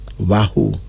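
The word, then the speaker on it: Wahu: child that wouldn't have a problem getting pregnant wahoo the pregnant one this is a kikuyu name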